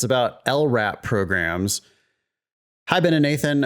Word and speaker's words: LRAP: which is uh abbreviated lrap okay now I think that lrap is an acronym even though that's not a word we pronounce it as if it's a word we don't say l-r-a-p we say lrap so